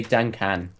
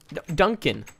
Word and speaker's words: Duncan: saying earlier Duncan Duncan and you say dunan dun Duncan now you're saying it right Tim Duncan dun you were saying dunan Duncan Duncan I'm watching